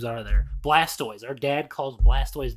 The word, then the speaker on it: Blastoise: Blastoise. Our dad calls Blastoise Blastos.